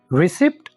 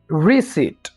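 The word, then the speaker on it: receipt: रिसिप्ट? नो, रिसिप्ट हम नहीं कहेंगे, बल्कि हम कहेंगे रिसीट। रिसीट। यहां पर हम पी को साइलेंट कर देंगे। बड़ा ही इजी तरीका है, आपने पी को साइलेंट करना है और आप ऐसे बोलेंगे रिसीट।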